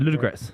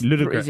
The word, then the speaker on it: Ludogorets: Yeah, that's what I said, Ludogorets. No. Yeah, I said it very quickly. No, it's Ludogorets. it's a 3-syllable word.